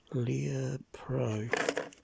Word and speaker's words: Lepro: Lepro. That's how you pronounce it.